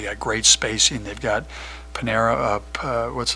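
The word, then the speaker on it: Pineiro: great spacing they've got panera up what's how do you pronounce his last name Pinero is a heck of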